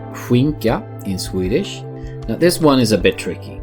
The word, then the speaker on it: skinka: The SK is pronounced almost like the first sound of whew, And in sounds the same in English. And the ka at the end would be like the crane going kaka, but you just don't use the first one.